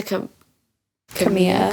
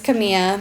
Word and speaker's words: Camila: Next to Camila. Cabello. I think it's Camilla. Yeah, I'm pretty sure the L is silent.